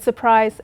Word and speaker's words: surprise: And surprise, the word surprise actually has a silent R.